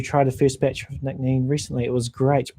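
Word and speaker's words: Nc'nean: Tried the first batch of Nick Neen recently. It was great. Pronounce Nishna'een.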